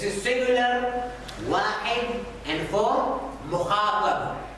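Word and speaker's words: مخاطب: Mim, kha, mukha, and ba, and ba. Mukhatab.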